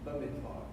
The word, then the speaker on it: Bamidbar: Under the B there is pronounced as a V, Bamidbar.